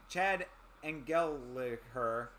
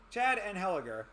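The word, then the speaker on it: Anheliger: Chad and geler and Chad angeler Angel Chad angel I think is how it's pronounced oh no and heler yeah it was I was right the first time Chad and heler everybody seems to think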